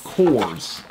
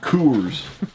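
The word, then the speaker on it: Kors: oh heaven it says it's it's cool it's cores not coors these are very expensive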